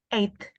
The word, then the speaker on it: eight: ini gimana cara bacanya eight eight kan bukan e right GH sound ini kadang enggak dibaca enggak dibaca ya sama kayak sama k